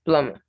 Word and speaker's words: plumber: cion it's pronunciation plumber the b is silent so it says blumba it's plummer issue tissue or issue